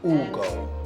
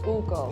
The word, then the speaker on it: Ugo: Ugo. Ugo. Yeah. And it has to come from the chest, Yeah.